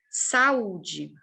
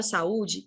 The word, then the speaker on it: saúde: distintas Então veja só saúde E no caso da palavra saúde tanto a é forte Quanto é forte saúde eu pronuncio bem os dois eu não vou Morrendo